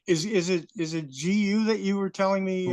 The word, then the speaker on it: Gu: now is it is is it is it gu that you were telling me uh that needs to be pronounced that way well yes a G is